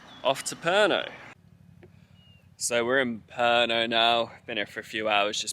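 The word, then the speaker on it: Pärnu: to drive to herno I was pronouncing it as par new in my last episode but we're driving there because we're staying in perno for the next three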